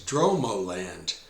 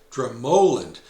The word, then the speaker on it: Dromoland: A quick aside, before our visit, I was calling the place Droand. And then I asked someone at the front desk and found out it's actually pronounced Dramoland with the emphasis on the second syllable.